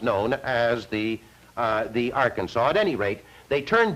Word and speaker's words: Arkansas: I should say the Arkansas there's quite a bit of discussion as you know as to how that river is to be pronounced uh the how that name is to be pronounced a number the Coloradoatans call it the arc Kansas by the time it